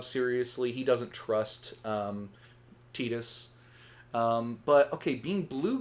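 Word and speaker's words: Tidus: But apparently the more literal Japanese translation, like the whole Aerys to Aerith thing, his name is supposed to be Tetus, which sounds like we're talking about a Tit.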